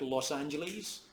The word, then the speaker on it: Los Angeles: But actually, it's sort of conditioned with itself, because the pronunciation of the S in Los is actually pronounced as a Z, and not as a S, as it is in Los Altos.